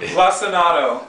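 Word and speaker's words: Lacinato: You can't pronounce it, can you? Lissanato.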